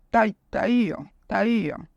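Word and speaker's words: πταίω: Yo voy a deletrear porque es difícil pronunciarla porque P de papá, T de todo, A, y la I tiene una tilde, IO. Taío.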